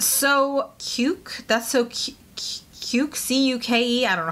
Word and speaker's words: cuke: C-U-K-E. I don't know how to pronounce that. Like cuke, like cuke is in cucumber.